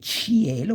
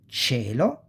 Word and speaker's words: cielo: these are the two, you don't say cielo, but you say cielo, sky, cieco, again, you don't say cieco, but you say cieco, blind, cerimonia, cognate, ceremony, always capitalize on cognates.